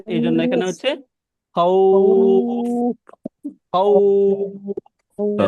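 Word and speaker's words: خوف: মূলত এটা হচ্ছে এই যে এখানে যে ওয়াওটা রয়েছে, ওয়াও, এই ওয়াওটার উচ্চারণটা হচ্ছে উপরের দিকে যায়, তাই না? এই জন্য এখানে হচ্ছে খাউফ, খাউফ, তাই না?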